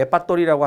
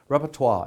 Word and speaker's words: repertoire: 우리 한국 사람들 레파토리라고 하는 말 들어봤어? 못 들어봤어? 들어봤지? 그 영어로 이제 프랑스 말이니까 원래 repertoire 이렇게 발음하는데요.